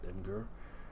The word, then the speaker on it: Imgur: I pronounce it Imgur.